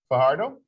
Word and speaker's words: Fajardo: Fajardo? Yes. The J pronounced H, right?